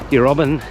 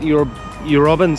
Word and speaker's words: Eurobin: beyond that is um Euroban station. We said Euroban before, but we we were just talking to a local and uh yeah, he told us how to pronounce it.